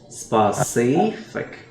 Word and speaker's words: specific: Specific. Những dòng hai nha. Specific. Second syllable.